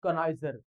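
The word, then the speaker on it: connoisseur: असतो जाणकार असतो ओके दर्दी जाणकार त्याला म्हणतात कणाजर स्पेलिंग लक्षात घ्या सी O double N ओ आय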